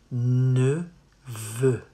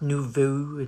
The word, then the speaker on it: neveu: Neveu. Not nouveau, neveu.